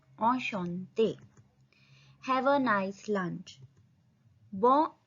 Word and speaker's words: Enchanté: En ch का sound श en te. Enchanté.